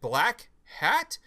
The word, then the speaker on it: black hat: ask were things like, what part do I stress? Is it black hat? Is it black hat? I was like, no, it's just flat. You say it like it's a word. Black hat. And like but during the H is almost silent. You're just like black hat.